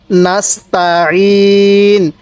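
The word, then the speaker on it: نستعين: ভাবে শিখবো এরপরে নাস্তা নাস্তা সিনটা চিকন করে আইনটা উচ্চারণের সময় গলার মধ্যে চাপ দিয়ে পড়লে আইনটা সহি উচ্চারণ হয় তাহলে নাস্তা এবার এখান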